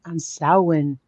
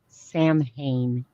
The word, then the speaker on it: Samhain: But B10, that's on Samhain. Samhain is how most people pronounce it, but Samhain is when the veil gets thinner.